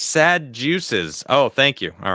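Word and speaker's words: Sadducees: It's pronounced sad juices. Oh, thank you. All right, there it is. I got it right that time. Shit, I don't even. So sad juices.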